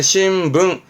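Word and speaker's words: 新聞: 대부분 뭐다? 붕이다. 해서 신문의 신붕, 신붕처럼 대부분 붕이다.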